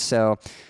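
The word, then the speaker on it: éS: So I do have some Vans, but interestingly, some of you know that I do skateboard. My preferred skate shoe is a brand called S. It's spelled E-S.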